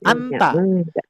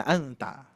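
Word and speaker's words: أنت: Nah, jadi ternyata Bapak Ibu sekalian tidak termasuk kaidah bahasa Arab, tapi pengucapannya ihfanya harus ada. Min aina anta. Itu bukan anta, min aina anta gitu ya.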